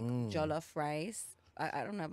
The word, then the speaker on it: jollof: year ago I started cooking African food like jollof rice I don't know if I'm saying it